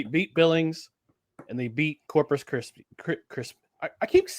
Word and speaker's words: Corpus Christi: Coming off of a successful road trip where they beat Billings and they beat Corpus Christ. I keep I keep mispronouncing Corpus Christi. Not Corpus Krispy, although they're now Coco Crisp, former outfielder.